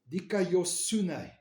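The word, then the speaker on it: δικαιοσύνη: And you pronounce that word as dikaiosune. Dikaiosune.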